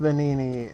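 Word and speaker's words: Venigni: So, I probably shouldn't complain, but the fact that the G is silent and I kept trying to pronounce the G is messed with me.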